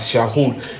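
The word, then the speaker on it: שָׁאוּל: So this is pronounced as Shahul.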